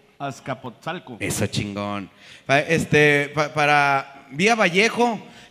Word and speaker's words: Azcapotzalco: Se pronunciará así, compadre. Apapsocalco. Azcapotzalco.